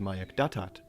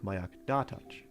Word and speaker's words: Mayak Datach: It is also mispronounced by Bigfooters as Mayak Datat, when it should really sound like Mayak Datach.